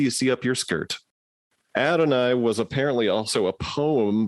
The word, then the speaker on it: Adonais: is a donius yeah recently I I heard somebody on on a podcast say that they researched it and it's supposed to be pronounced Adonai oh sure but that doesn't